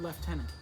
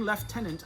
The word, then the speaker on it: lieutenant: light lager lieutenant yeah there's no f in the word lieutenant but it's pronounced navigating lieutenant light lager lieutenant no